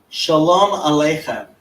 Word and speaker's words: Shalom Aleichem: I'll ask Shalom Alachayim? How do you say that? Alachayim? Shalom Aleichem.